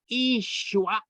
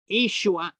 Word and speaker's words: Yeshua: And I'm doing it on Yeshua, Jesus. Bre Danasha, Bre Dalacha. What does that mean? All right. Yeshua is how you say Jesus in Aramaic.